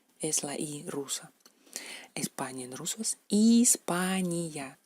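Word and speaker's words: Испания: España en ruso es Hispania, Hispania, Hispania. ¿Cómo se pronuncia esta letra en ruso?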